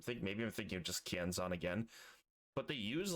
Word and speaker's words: Kienzan: Kienzan, that's how you say it.